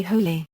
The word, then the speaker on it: Hole: The word is pronounced as 2 syllables, with stress on the first, as is implied in The Bat, where the Australian police call him Harry Hole.